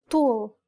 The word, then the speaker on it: ط: The first consonant is ط طول مطر قطار This is the dark counterpart to the T sound. Build up the pressure at the point of contact and then release the air forcefully.